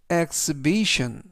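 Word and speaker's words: exhibition: 그리고 맨 끝에 있는 exibition 이때 발음에 유의하실점은 취가 묵음이라 이번 단어에서 발음이 되지 않습니다.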